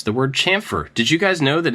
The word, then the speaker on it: chamfer: so I I assumed it was champer chamfer um and this guy said it in a nice way he was just like correcting me so I looked it up and realized that I'd been saying it wrong this entire time it starts actually the sound is like a TSH so it's very similar to champfer but it's not yeah I don't know